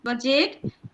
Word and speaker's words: budget: before G in the word budget so we'll pronounce it budget in the bridge also you can see that before G there is given T.